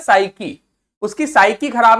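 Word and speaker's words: psyche: साइकी आपका root word तो है ही, साथ साथ ये साइकी आपका खुद में भी एक शब्द है।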